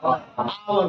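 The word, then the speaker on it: hour: Pronunciation का first letter. आप बोलो तो इसको क्या बोलते हैं? आवर।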